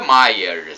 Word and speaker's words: Meyers: Padre guiar o meyers na verdade a pronúncia Maias escreve meias mas a pronúncia em alemão é Mayer né gerar Myers aí